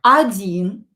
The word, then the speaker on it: один: Or when it's not stressed, pronounce it as a. Один.